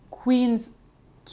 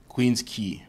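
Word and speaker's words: Queens Quay: en tout cas surprenante la rue qui s'affiche ici qu'on pourrait lire facilement Queens OK et qui se dit Queens key bon celle-ci elle est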